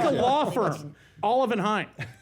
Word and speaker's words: Olivenhain: Liebenhain. Say it again. A Liebenhain. What did you say? Olivenhain.